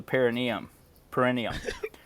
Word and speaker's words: perineum: Dude, and it's funny that it's got a medical name, the perineum. Perineum. Yeah. You pronounced it right.